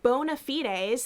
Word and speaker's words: bona fides: to say it uh because it's like anglicized versus like latin or whatever like yeah both are fine yeah like uh but do you have any other fan bona fides things that you have